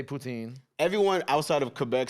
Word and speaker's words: poutine: poutine um hold on you gotta say it right because like my people are gonna be like yo you letting them Putin yeah yeah whoa that was good yeah exactly no poutine that's like some Toronto